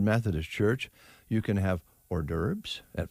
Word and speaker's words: hors d'oeuvres: I'm very proud of you for the way you have handled hors d'oeuvres. Oh. You've announced it and pronounced it well, because sometimes you'll say horsty-overs.